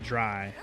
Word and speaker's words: drei: You pronounce it dry. Dry. I guess in German it would be like dry.